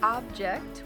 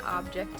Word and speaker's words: object: the meaning is object object with an emphasis on the first part of the word is a thing it means a thing an object in your home an object in your classroom whereas object when you put stress on the second part of the word means to be against something you're probably thinking you sound